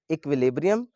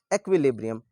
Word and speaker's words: equilibrium: इसकी दो प्रोनाउंसिएशंस हैं, इक्विलिब्रियम एंड एक्विलिब्रियम, both are correct.